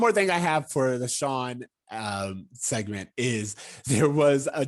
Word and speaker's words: Shawn: where they were like, is it SHAWN or SEAN? So anyway, it's SHAWN. Yes, it is spelled with a W, which is good to know for us.